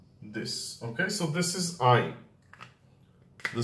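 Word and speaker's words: עין: Ayin is pronounced just like Aleph, okay? So it just takes the vowel after it. The correct pronunciation and maybe the old pronunciation is in the throat, but today we are too lazy to pronounce it like this, so we just pronounce it like Aleph, like ah, okay?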